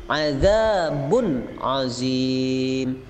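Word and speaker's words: عذاب عظيم: Bacanya harus jelas seperti ini, adzabun azim. Jangan dengung, jangan samar, tetapi jelas.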